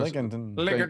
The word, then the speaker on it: Lincolnton: Out of how would you pronounce that? Lincolnton, North Carolina. That's what it looks Lincoln. like. So Lincolnton.